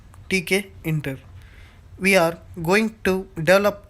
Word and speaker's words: Tkinter: called take a inter toolkit interface pronounced as tk enter we are going to